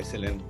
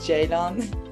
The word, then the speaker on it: Ceylan: come on stage hi guys hello hi Celine how are you good thanks it's actually pronounced Jadon oh I'm really sorry but I completely understand